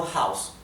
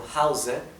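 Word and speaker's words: Hause: to House Así que recuerden siempre que la palabra House no House sino House se usa con la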